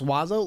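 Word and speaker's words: oiseau: about it I mean the French have Oho pronounce wazo listen that's not my problem um abominable I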